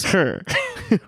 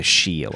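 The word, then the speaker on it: 是: means it means is sure sure because it's written Shi so that trips people people say she'll it's actually pronounced sure sure well it's yeah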